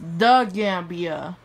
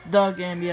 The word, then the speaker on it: The Gambia: it's pronounced the gambia it's the gambia yako it's pronounced lester